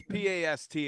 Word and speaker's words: Pasteur: It's Pasteur, like a pastor, right?